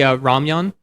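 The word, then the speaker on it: 라면: The animation they do, for example, when they're eating the ramyun, which I love how they say ramen. It's ramyun.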